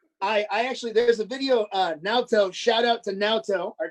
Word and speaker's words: Naoto: I actually, there's a video, Naoto, shout out to Naoto, our Japanese tour manager. Yoto. It's Naoto.